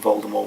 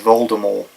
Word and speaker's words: Voldemort: Um but they call it they they did they do pronounce it as Voldemort in the actual play. So I'm going to be pronouncing it Voldemort probably from now on actually cuz I think it sounds better.